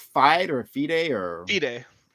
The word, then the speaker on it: FIDE: Is it pronounced FIDE or FIDE or FIDE? FIDE.